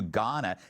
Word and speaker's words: Ghana: Mayor Karen Bass is demanding an investigation into her trip to Ghana. The H is silent.